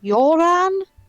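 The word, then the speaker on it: Jöran: break um okay um i think it's pronounced joran oh the like uh like what come to put in the chat yeah you're in steinhauer yeah j o with two dots r-a-n very nearly accidentally called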